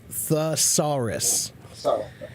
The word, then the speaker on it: thesaurus: time pronouncing that word it's th th saus thesaurus yeah um and that one